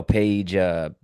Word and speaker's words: Paige: I think Caitlin Clark, no, Paige Paige Buchers, Buchers. Bakers. It's spelled like Buckers.